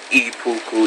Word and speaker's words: Ippuku: Oh, and another thing, I got a update on Ipuku e-cigs, pronounced Ipuku e-cigs.